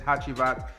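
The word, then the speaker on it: Hacivat: That's what I was supposed to pronounce this one is, Hachivat.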